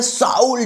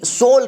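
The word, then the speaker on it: soul: लेकिन ना उनकी दोस्तों जो कहते हैं साउल जो जो वर्ड होता है साउल यानी कि आत्मा वो साउल वो बंदे की सोल कहा जाता है इंग्लिश में एजेक्ट प्रोनाउंस है यहां पर सोल यहां पे जो स्पेलिंग है वो एस ओ यू एल करके जिसे हिंदी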